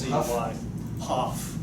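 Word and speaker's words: Hough: and then It's you'll pronounced see Huff. why. Hoff. Hoff.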